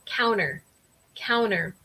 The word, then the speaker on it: counter: Es como pronunciar esta T, esta letra T. Entonces, en mi caso, yo tengo un acento súper de Michigan y yo digo counter.